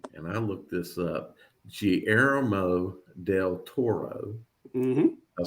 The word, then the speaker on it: Guillermo del Toro: And I looked this up, Guillermo del Toro.